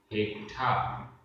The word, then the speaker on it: हेठा: इसमें आधा टा ठा और बड़े आ की मात्रा है। हेठा।